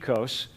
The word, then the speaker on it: oikos: The first word, you have yogurt that you call maybe oikos. The Greeks would pronounce it ekos.